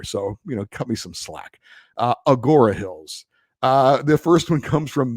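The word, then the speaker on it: Agoura Hills: It's apparently Agora Hills. There's no N in there. So, oops. Look, I'm not originally from here. So, cut me some slack. Agora Hills.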